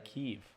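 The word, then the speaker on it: Kyiv: right on time wow I always thought it was Kev and then when the war started everyone started saying keev I was like oh I guess that's how you pronounce it is that the correct pronunciation I think it's keev ke yeah or it could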